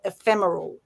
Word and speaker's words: ephemeral: It's ephemeral is how ephemeral is pronounced, ephemeral or ephemeral.